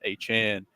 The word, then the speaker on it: Achane: He asked to be pronounced Achan.